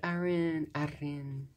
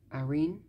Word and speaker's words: Arin: photo cards one two three we got Aon I always Arin Arin I always have trouble pronouncing basic name like on a daily basis